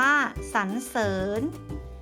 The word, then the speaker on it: สรรเสริญ: หนู ค่ะ อย่าง เช่น คำ ว่า สรรเสริญ อ่าน ว่า สรรเสริญ จรรยา อ่าน ว่า จรรยา